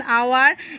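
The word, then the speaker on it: hour: का साउंड आता है, H का साउंड साइलेंट रहता है।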